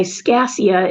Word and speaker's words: Scaccia: Part of my course was there was a study by Scassia, it's spelled SCACCIA, in 2017 on positive thinking and gratitude and the impact on the neuroplasticity of our brains.